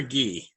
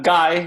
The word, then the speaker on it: Guy: i'm doing well is is your name pronounced guy or ghee uh guy guy you can't call me